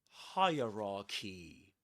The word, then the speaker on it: hierarchy: The thing is that the the word hierarchy can be divided into three parts which rhyme with these words. Hire as when we say hi for example, right?